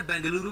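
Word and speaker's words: ಬೆಂಗಳೂರು: में इसका नाम आपने बेंगलुरु भी सुना होगा क्योंकि कन्नड़ भाषा में इसे बेंगलुरु प्रोनाउंस किया जाता है यह शहर कर्नाटक राज्य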